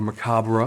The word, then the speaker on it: macabre: And this is Cyclops Road by Jeff Strand, the fourth title in his Gleefully Macabre, or Macabre, if you want to say it correctly, line through Thunderstorm Books.